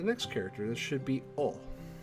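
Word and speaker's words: お: This should be O. O. This is the O, or O. It's the equivalent of the vowel O in English. You pronounce this one as O, like O-H.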